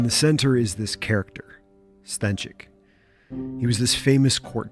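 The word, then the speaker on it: Stańczyk: I need to call a Polish friend to figure out how to pronounce this name. Stanczyk.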